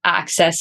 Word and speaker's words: AXS: Basically, there's like a login you can do for AXS, which is pronounced Access, like you said before.